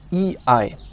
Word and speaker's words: Ei: The first one is AI and EI, means AI und EI, and they are both pronounced I. Okay? I. Even EI is pronounced I. Counterintuitive, but that's how it is.